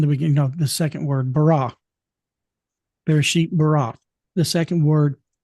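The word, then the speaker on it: ברא: It is Beit Resh Aleph is the Hebrew letters, and it's pronounced bara.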